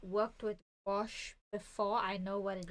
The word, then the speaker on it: gouache: Well, I personally have not worked with gouache before. I know what it is. But is that how you pronounce it? I thought it was go. No, it's gouache. Gouache.